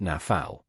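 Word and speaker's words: נָפַל: The word nephilim comes from the Hebrew root nl pronounced nafal. It's easy to remember because it sounds like what it means.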